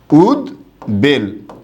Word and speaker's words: উদ্বেল: তাই এটার উচ্চারণটা কি হবে? উদ বেল। এরকম হবে এটার সঠিক উচ্চারণ।